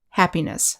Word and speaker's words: happiness: thankless next we have the suffix ness which is pronounced niss happiness sadness loneliness next we